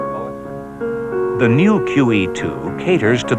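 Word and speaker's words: Moët: Moet is a Dutch name, and with proper names, the rules do not apply, so it is properly pronounced Moet.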